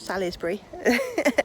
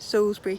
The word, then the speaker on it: Salisbury: Not Salisbury, as some people pronounce it, but Salisbury Cathedral.